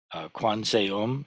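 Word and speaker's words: Kwanseum: So Quan Xiyin is the Chinese pronunciation, Kwanseom is the Korean pronunciation, and Kanzeon is the Japanese pronunciation.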